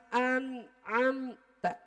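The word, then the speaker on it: أنعمت: anamta aja sudah salah an'amta karena kan Alif Nun Ain ta mim ta berarti dibacanya An am ta J jangan sampai anamta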